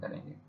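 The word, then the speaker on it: coup: और उसको अंडरस्टैंड भी करेंगे। तो इब्तदा करते हैं हम आज के लेक्चर की। अपने पहले वर्ड के साथ हमारे पास जो पहला वर्ड है वह है कु। इसमें पी जो है साइलेंट है।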